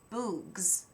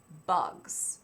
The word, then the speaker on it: bugs: "Bugs," he said. "Good," said Stanley. "Remember, it's a short U if there's no E at the end."